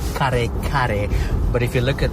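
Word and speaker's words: kare-kare: So, I made a big batch of what's called kare kare. But if you look at the name of the dish, it's spelled with K-A-R-E and a K-A-R-E.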